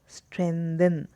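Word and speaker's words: strengthen: Asanas, स्ट्रेंथन, यहाँ पे जी silent रहता है, स्ट्रेंथन, तो जी स्ट्रेंथन, ठीक है।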